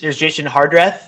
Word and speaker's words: Jason Hardrath: jump jump into it and you guys here's jason hardrath right is how you say his name it